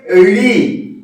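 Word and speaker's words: ঋ: রি। এর উচ্চারণটা কি করবে?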